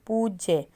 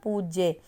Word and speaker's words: पूज्य: की मात्रा लिखी गई पूज्य जब हम पूज्य माता जी लिखते हैं ना पूज्य तो पूज्य में आपको बड़े ऊ की साउंड है तो बड़ा उ लगाएंगे सूर्य अब सूर्य जब